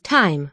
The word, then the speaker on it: thyme: parsley and time what no it's time it's time it's time it's time time pronunciation t-h-y and you want to tell me this is time time time oh wait